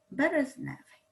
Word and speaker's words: березневий: пишемо суфікс F і наголос падає на основу березневий і виділяємо суфікс грошовий